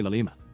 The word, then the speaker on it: llama: uses a llama CPP you might pronounce it differently but I say LMA it's like a brand name you know just remember LMA refers to this now let's start